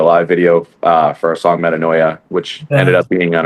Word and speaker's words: Metanoia: I'm having a hard time pronouncing the name though. Metatonia? Metanoia.